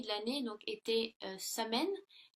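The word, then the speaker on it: Samhain: l'année donc était euh samen donc qui est prononcé qui se prononce soyen et donc il croyait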